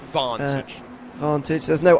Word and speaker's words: Vantage: I must say, the new Vantage, give it its proper British pronunciation, doesn't that have the engine from a Merc?